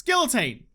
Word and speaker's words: guillotine: It's written with L's, and I'm not French, I'm Australian. So I'm gonna say it with my sweet Australian twang. It's guillotine.